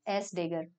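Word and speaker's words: S†: इज which we designate by एस डेग pronounced एज एस डेग तो हर्मिन कॉन्जुलेरे मैट्रिक्स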